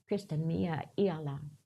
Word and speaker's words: Christinia: talking about he said in the Lota language your name Christinia it would be pronounced christania that means Spirit lives